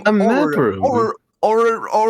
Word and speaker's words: orrery: Orrery? Orrery.